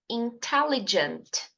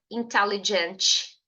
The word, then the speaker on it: intelligent: intelligent Repita comigo more intelligent perceba que intelligent termina com a letra t e você precisa ser Sutil na sua pronúncia da letra T não diga inteligent inteligent não intelligent Ok treina isso tá bom